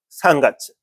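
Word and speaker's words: 三月: 3월은 그죠? 상가츠 상가츠 뭐를 가츠라고 읽네 저기 수업했었죠. 어 가츠라고 읽어야 됩니다.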